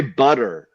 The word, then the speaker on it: butter: people you know that say butter with like a D sound butter I put real quick